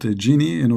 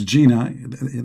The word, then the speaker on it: genie: So if you're interested to import genie, call 1-800-GENIE. Okay. Remember, you have to pronounce the word genie correctly. Don't think it's Gina.